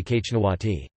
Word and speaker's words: xñtawati: The Lycian inscriptions indicate the monarch was titled Exnawati, more phonetically Kachnawati.